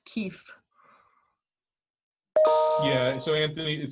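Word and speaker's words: kief: excise tax structure yeah it sounds like leaf but it's spelled k-i-e-f keefe yeah so anthony it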